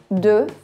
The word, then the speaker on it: deux: Olha só, pronuncia deux, é como se fosse somente a letra E, que a gente viu no primeiro filme. Deux. O X no final não é pronunciado.